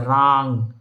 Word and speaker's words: रां: ओम, रा के ऊपर अंग की मात्रा है, रांग, राम नहीं है, रांग है।